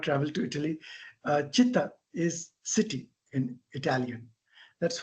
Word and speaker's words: città: C is pronounced as that. So it is actually citti, città. That's the word, a city, a place that everything is together.